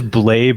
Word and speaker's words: Blais: fellow podcast host blaise did i get your name right do they get the pronunciation rate uh well it is blade but i like blaze better so let's go with that that's all good there